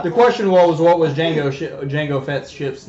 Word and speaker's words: Django: then Django and then Django with the D is silent had murdered him well